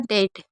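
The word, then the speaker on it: debt: यदि किसी वर्ड में बी और टी साथ में होगा तो भी बी साइलेंट रहेगा। जैसे हमने पढ़ा डेट। डेट में आप देख रहे हैं बी और टी साथ में है तो हम इसमें बी को नहीं पढ़ रहे हैं।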